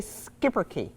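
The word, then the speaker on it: Schipperke: the the breed okay so this is a skipper key yep it's spelled funny it's s-c-h-i-p-p e-r-k-e the word means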